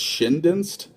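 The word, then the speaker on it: Schoendienst: I think it's Shindinst is how you say his last name.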